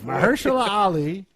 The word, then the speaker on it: Mahershala Ali: Mahershala Ali. That's it. Mahershala Ali.